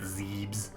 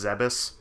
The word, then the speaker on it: Zebes: pretty sure that's wrong I think I also used to pronounce a zebes for for a longest time but I'm pretty sure it's zebus what's up Zebes like